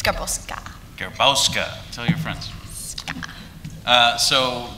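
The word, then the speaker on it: Garbowska: It's like this ongoing joke how I keep getting called Garbowski instead of Garboska. Because there's an A, but you pronounce it apparently like an I.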